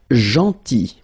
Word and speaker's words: gentil: Then, gentil. So remember, this final L is not pronounced. Gentil.